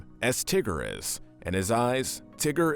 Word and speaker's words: Tigger: we have the only one of his kind tigger pronounced t-i double gu er tigger is one of